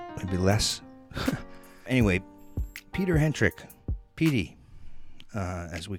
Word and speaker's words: Hentrich: interview right now we are here with PD Hendrik Runnings and salutations and pronouncing here yeah actually yeah thank you it's